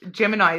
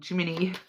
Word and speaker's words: Gemini: not the only one I mispronounce randomly um it's Gemini as well I always call them Jiminy so eies cuz it's